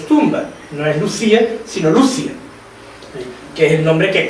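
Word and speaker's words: Lúcia: Bueno, nosotros tenemos ya la costumbre de decir Lucía en español, el mismo Papa pronunció Lucía en la homilía, por tanto voy a seguir diciendo Lucía porque estamos más acostumbrados.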